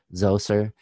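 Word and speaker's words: Djoser: know by name and it's spelled uh z-o sometimes you'll see it spelled dj so zoser it doesn't matter either way is is acceptable and according to lawler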